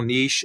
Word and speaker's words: niche: Whenever you see that next word right there, this one right here, some people pronounce it niche, some people niche. It all depends on how you like to pronounce it.